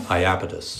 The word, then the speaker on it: Iapetus: Iapetus.